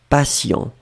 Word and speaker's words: patient: Hein, faites attention, passion et patient. Finalement, la seule nuance, c'est la nasale. Vous avez entendu yon, yon, yon, yon. Et moi, j'ai prononcé yan yan yan yan. D'accord? Passion, patient.